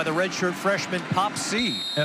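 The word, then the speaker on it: Sy: It's pronounced C.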